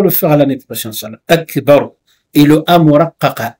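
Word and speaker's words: أكبر: Surtout Akbar, ne faites pas de voyelle longue. Ne dites pas A ou bien Ba. Akbar. Hein? Répétez, Inch'Allah. Akbar.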